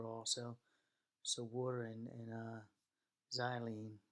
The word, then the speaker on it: xylene: so war and uh xylene that's pronounced with a Z right xylene doesn't mix